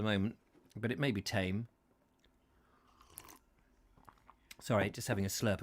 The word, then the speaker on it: Thame: Leave Tame. It's Tame, isn't it? Not Thame. Is it Thame? I never quite know on that, Tame, because the Thames is the Thames.